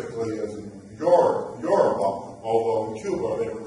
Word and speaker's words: Yoruba: That name is the name that we now know these people, Yoruba, Yoruba is how you pronounce it, not Yoruba, that's it.